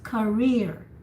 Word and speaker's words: career: So the accent is rear. No, don't say the ka. You just say career. So you just, it's like you whisper the first syllable, and the rear is the one that you hear.